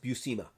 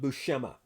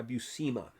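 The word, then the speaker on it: Buscema: And by the way, his name is pronounced Bucima, not Bushma. I've heard him interviewed more than once and he pronounces his own last last name by Bucima.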